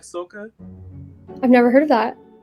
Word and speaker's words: soca: You like soca?